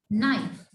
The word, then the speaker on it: knife: I tell you that when K comes before and, so K will be silent. Knife.